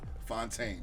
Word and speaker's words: Fontaine: Fontaine, the one and only Kim Fontaine, legend, the GOAT.